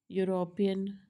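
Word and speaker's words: European: इसमें भी y का साउंड आ रहा है, क्यों, लेटर ई से स्टार्ट हो रहे हैं वर्ड्स, दी स्टार्ट विथ य, राइट, ये y का साउंड ही है इसमें, स्पेलिंग ई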